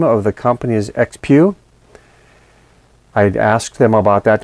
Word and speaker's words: XPEOO: The name of the company is XPEOO. I'd asked them about that to make sure I was pronouncing it correctly.